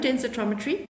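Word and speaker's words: densitometry: So, it's bone densrometry. You did say it almost quite correct.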